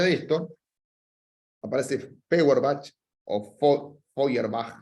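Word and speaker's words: Feuerbach: esto aparece Power batch oyer Back sería como se pronuncia en alemán pero le decimos la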